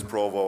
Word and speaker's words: Provo: name the entire time, I said provost. I get that a lot. I asked my father how to pronounce it. He says Provo. I asked my uncles and they said Provo, so Provo just sounds better. Sounds very French.